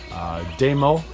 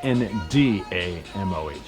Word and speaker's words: Ndamoh: Ndamoh Mannah House is a bit difficult to find because the N is silent, and a lot of people can't find it because they forget to put the N in front. But it's Ndamoh, okay, Ndamoh Mannah House.